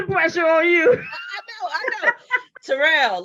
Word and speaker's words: Terrell: Terrell, Terrell, look at me.